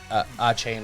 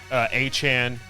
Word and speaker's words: Achane: The other thing is Devon Achane or whatever. Yeah. Achan. Achan is how he says it's pronounced.